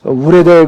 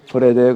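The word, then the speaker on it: Wrede: 독일어는 이 W를 영어의 W를 우로 발음하지를 않고 부로 발음해서 우레데 그러지 않고요. 브레데 그러는 거예요.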